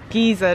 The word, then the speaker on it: geyser: so we're at stroker geyser or giza depending on how you say it and it's basically